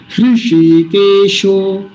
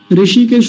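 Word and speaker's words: हृषीकेशः: इसका उच्चारण होगा तो मेरे साथ बोलिए ऋषि केशो ऋषि केश नहीं बोलेंगे कभी वो जो हरिद्वार के पास एक स्थान है ना ऋषि केश वैसा नहीं बोलना ऋषि ह का भी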